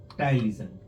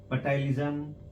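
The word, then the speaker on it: ptyalism: Ptylism, patylism, psychology, poesophagus. This is the P is silent, so it is ptylism,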